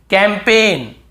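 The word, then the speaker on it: campaign: हमें याद रखना है कैंपेन कैम पेन कैंपेन यहां पर भी जी साइलेंट है है कैंपेन फॉरेन बहुत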